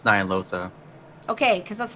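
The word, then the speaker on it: Ny'alotha: It's Nyalotha.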